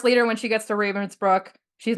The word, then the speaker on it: Ravensbrück: Yeah, and even especially when they get to Ravensbrück or Ravensbrück in the actual pronunciation.